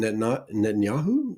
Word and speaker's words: Netanyahu: Benjamin Netanyahu is how you say it.